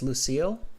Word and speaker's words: Lucille: Am I pronouncing it correctly? It's Lucille? Yeah, definitely correct.